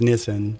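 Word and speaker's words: Nisan: the show here but but yeah so so nissan ten it's actually pronounced nissan i'm still training myself to say it right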